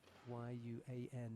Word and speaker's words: Yuan: It's Yuan in the white, judogi Davaadorj in blue. I know that Y-U-A-N is pronounced Yuan because we got a very good friend called Yuan.